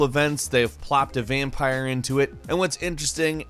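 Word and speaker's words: Vampyr: 2018 number 10 is vampire with Y however it is pronounced vampire despite the Y vampire is an action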